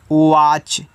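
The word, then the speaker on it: watch: डब्ल्यू ए टी सी एच इसको पढ़ते हैं वाच। यहां पे टी साइलेंट रहेगा।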